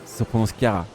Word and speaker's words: Chiara: Chara se prononce Chiara.